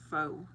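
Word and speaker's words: phở: Gabe says, "Pronounced fo Vietnamese food."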